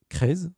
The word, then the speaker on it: Kresz: Et aujourd'hui, j'ai la chance d'être avec Crez, c'est ça ? Crez, ouais. Ça se prononce bien ?